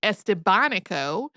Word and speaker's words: Estevanico: He's usually called Estavanico, also spelled Estabbono because V and B have very similar pronunciations in Castellian Spanish.